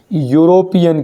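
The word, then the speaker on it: European: क्यों, क्योंकि नाम भले स्पेलिंग ई है, लेकिन उच्चारण क्या हो रहा है, यूरोपियन, यू यग आ रहा है, यग।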